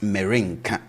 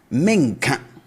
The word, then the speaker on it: merenka: we are saying this, we don't say it as merenka or merento or merenko. We say it as menka.